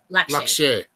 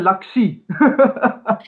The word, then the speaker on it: Lakshay: Am I pronouncing that right? Lakshay.